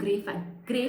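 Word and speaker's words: greige: Specifically हम बोलते हैं इसको gray fabric. Okay, the spelling is little bit like GREIGH, but it is pronounced as gray, so it is called as gray fabric.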